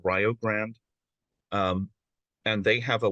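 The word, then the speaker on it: Rio Grande: in oh called um uh it looks like Rio Grand but it's pronounced Rog grand um and they have a Welsh studies Department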